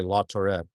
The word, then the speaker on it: Laturette: Nicolette and Laturette. I like how they kept them together so it rhymes so I remember how to say Laturette. Laturette.